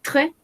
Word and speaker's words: très: Ici, on a lente, lente, rapide, très rapide, muy rápido. Recordemos que este très significa muy. Acá no pronunciamos la S. Ahí. On ne prononce pas le S.